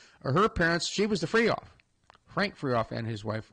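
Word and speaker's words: Fryhauf: Free Off. It's spelled F-R-Y-H-A-U-F, like Freihof.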